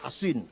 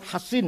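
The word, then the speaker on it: حصين: Bisod ya, Hasin. Kalau Sin Husain bacanya. Kalau Sod Hasin bacanya.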